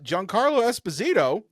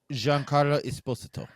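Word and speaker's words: Giancarlo Esposito: all this but uh Johan Carlo Esposito what was that incorrect incorrect Jean Carlo esposo esposo that is actually how he pronounces it okay okay well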